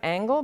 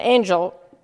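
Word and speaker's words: Angell: places and Catherine then angel I've been pronouncing an angle but it is angel correct yes because I was corrected by a family member the last time I gave this talk are there any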